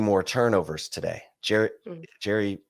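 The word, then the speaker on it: Gerry: Gary Bohannon, I guess is how it's pronounced, spelled Jerry.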